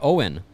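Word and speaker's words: Owyn: in the recovery and look no further than owen what is owen you may ask what's owen mario what is it it's spelled o-w-y-n and it stands for only what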